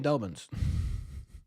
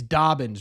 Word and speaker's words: Dobbins: dolbin likes me so I'm going to keep saying dolens what is it it's Dobbins right Hunter Dobbins I'll correct myself eventually you know what the